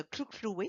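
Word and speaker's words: Hluhluwe: dans la réserve de Kluklui. Ça se prononce comme avec des claques là, de la langue, qui est une particularité de la langue zoulou.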